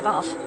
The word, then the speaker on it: Bath: And by the time he got to Bath, Americans say Bath, I don't think it was